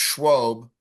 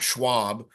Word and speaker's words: Schwab: And it's pronounced Schwab, not Schwab.